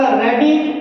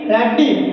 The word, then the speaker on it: radii: इसमें ध्यान दीजिएगा, कभी भी आपका डबल लेटर आता है हम उसको डबल प्रोनाउंस नहीं करते हैं, हम उसको सिंगल प्रोनाउंस करते हैं, लाइक आपका आई। सो ध्यान दीजिएगा, आपका रेडी, रेडी, RADII।